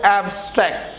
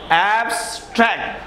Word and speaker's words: abstract: syllabus হতে পারে না এই ওয়ার্ডের মধ্যে মাত্র দুইটা ভাওয়াল আছে এ এ এ এবং এ তারা আমরা যদি অ্যাবস্ট্র্যাক্ট বলি তারা এখানে তিনটা